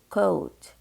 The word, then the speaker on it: coat: U-O, pronounce it as long O, coat.